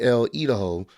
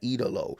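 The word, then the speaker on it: El Ídolo: Andrade Elido, I think I I'm sure I butchered that. My bad. Eidalo. There we go.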